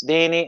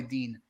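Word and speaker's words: Digne: no exchange between lucas denny and no dean dean dean i've got to be uh i've got a i know french pronunciations it's definitely dean um so the idea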